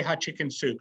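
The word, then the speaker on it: Hatshepsut: work with I said how do you really pronounce hot hotp and he said just say hot chicken soup so we have Queen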